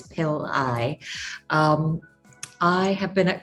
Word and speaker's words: Pillai: It's pronounced, and the last name is Pillai.